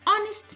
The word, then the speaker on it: honest: An honest man. Honest. The initial sound is O.